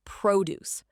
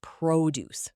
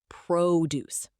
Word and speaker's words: produce: But some learners pronounce it as produce, like the verb meaning to make something. In this context, it's produce. The stress is on the first syllable.